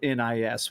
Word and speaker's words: NIS: I went to an actual in-person meeting with them, and they pronounced it NIS when I spoke to them.